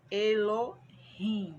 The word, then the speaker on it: Elohim: é o Adonai e pai é o Elohim pronunciamos elorrim e a palavra representa a forma plural do